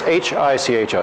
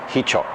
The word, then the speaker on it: Hicho: It's not pronounced Hicho. It's Hicho, okay? And so if I say that, somebody wants to say bless you, that's fine. Just think of it as sounding a little like a sneeze.